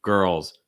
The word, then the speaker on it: girls: the next word too a girls girls one syllable art of the dark l so like earl earl notice again tip my tongue is actually down earl earl girls girls